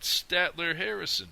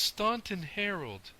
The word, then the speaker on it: Staunton Harold: can find a way to get into that Statler Harrison place. What do you say?" "It's Staunton Harold," said Johnny severely.